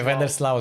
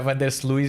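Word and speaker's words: Van der Sluis: Eu também demorei anos a descobrir que não era Vandersluis. Eu disse Vandersluis durante anos até que descobri que não, que o nome dele não era assim que se pronunciava.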